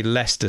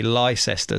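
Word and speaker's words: Leicester: we pronounce differently and whenever anyone an Americans in England and they say leester Square they say Lester square and and just pronounce different LS yeah that's so interesting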